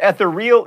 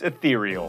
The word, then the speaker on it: ethereal: you go to Edinburgh it's not eal it's ethereal this is not a mime